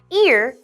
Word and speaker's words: ear: When we see the word ear, we kind of pronounce it like the word rear, like the rear view mirror.